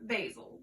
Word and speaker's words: Basil: Spelled the same way as the herb basil, but it is pronounced Basil, and it is a boy's name.